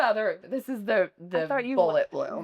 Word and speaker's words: Bullet Bloom: People were they people just butchered it like so about Boule Bloom. So finally I was just like it's bullet bloom right?